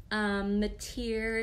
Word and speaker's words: Meteer: Meteer is pronounced like musketeer without the S, kind of a strange last name.